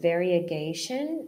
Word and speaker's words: variegation: Here we have very, so it's more like a re sound instead of vari. So variegation and variety. Can you hear that the sound is a little bit different there in the middle?